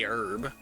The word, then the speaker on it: herb: like actual say it or the way that my impression voice would say it cuz I just say herb. I do not pronounce the H.